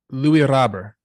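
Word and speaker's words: Luis Robert: Yeah, we learned how to say it's Louis Robber.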